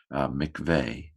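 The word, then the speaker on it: מקוה: Mem, hirik, kof. That's a silent shva. This syllable is closed. So mik. It's a short syllable. Vav, seri hey. Seri hey is also a vowel combination. Mikveh. U la mikveh.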